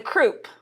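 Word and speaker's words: croup: And the croo. Nope. I don't know. Kind of rhymes with poop.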